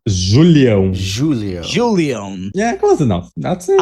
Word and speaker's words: Julião: My last name is Julião, if you want to try to pronounce that. Julião. Julião.